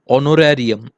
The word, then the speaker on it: honorarium: सो दो इट is start with H बट it's pronunciation is हॉनर, honor, more perfectly honorarium.